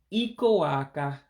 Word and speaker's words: ịkụ-aka: And you don't have to do a contraction this time, so you pronounce it just the way you see it. So to applaud, meaning to clap, is ịkụ-aka, ịkụ-aka, to applaud.